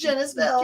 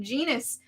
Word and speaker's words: Genis-Vell: I couldn't tell if it was It's Genis-Vell. Genis. Okay, I was calling it Genus.